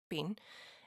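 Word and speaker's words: בין: That's how you say it, bean.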